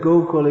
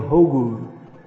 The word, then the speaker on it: Gokul: Instead of Gokul, it became Hogul. Because they mix up the G, the K, and the H. So Gokul became Hogul.